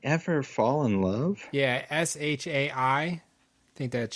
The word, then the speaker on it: Shai: Fall In Love yeah s h a i I think that's Shay is how she pronounced that yep or Shai okay I think